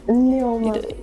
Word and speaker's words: Nneoma: So I'm actually throwing the same question to Nneoma. I got that name right. I got it right. What? Pronounce it again, please. Nneoma. No, you didn't get it right. Nneoma. It's one word.